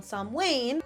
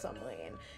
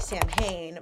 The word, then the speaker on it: Samhain: between us and them at this point on Sam Wayne, which if you are unfamiliar with how it's pronounced, it is pronounced Sam Wayne. It looks like Sam Hayne, but you know, who's to say?